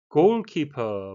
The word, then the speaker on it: goalkeeper: Goalkeeper, 발음에 의해서인데요. 골은 이중모음, 키퍼는 장음이 되겠습니다.